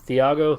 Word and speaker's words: Thiago: Now, the main card, I believe, is Thiago. Is that how you say his name? Yeah, Thiago Santos.